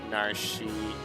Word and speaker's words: Narshe: Narshe is Narshe, Celis is Seals, Ga is Gao over Ga.